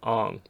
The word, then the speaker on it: Aang: situations like say ang if you want it to be super traditional should probably be pronounced on like kelsang is actually kel song that's the actual pronunciation of the name but no one's gonna start calling aang ong because we saw what